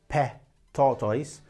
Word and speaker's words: pet tortoise: improve your comprehension so don't panic when you hear somebody saying pe tortoise because pet tortoise is the correct pronunciation remember you need to